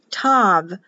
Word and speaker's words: Tav: Tav, or in the King James Bible, Psalm 119, the 22nd section, the last 8 verses is T-A-U, which is your Greek or your Latin pronunciation for last or sealed, cross, T-A-U, but this T-A-V in Hebrew, and T with a